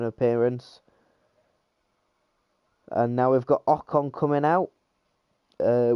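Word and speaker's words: Ocon: and now we've got okon coming out uh with the Americans obviously mispronouncing his name oh con I think he said so now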